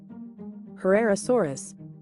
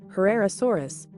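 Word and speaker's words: Herrerasaurus: and a relatively small head how do you pronounce her rare source in English Herrera Soros Herrera Soros let's listen again Carrera Soros Ferreira Soros next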